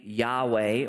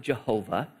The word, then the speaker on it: Yahweh: the Lord who heals you it's the name Yahweh or some people pronounce it Jehovah Rafa Yahweh or Jehovah meaning the Lord Rafa